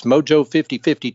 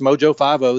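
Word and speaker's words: Mojo 5-0: term mojo five Oh a lot of people say mojo fifty or mojo 5.0 but it's actually pronounced mojo five oh that's the station and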